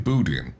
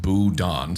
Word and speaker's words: boudin: the definition uh Cajun booting oh damn it's pronounced boudon sorry I said that wrong his wonderfully scrumptious Cajun